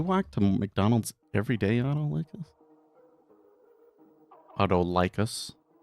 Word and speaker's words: Autolycus: to McDonald's every day, Autolycus? When I say licus, it kind of sounds like sickly. So it almost surely is pronounced Autolycus, because that's more cool sounding.